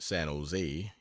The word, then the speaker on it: San Jose: down to San Jose generally pronounced San Jose emphasis on last Sila today 50 mi from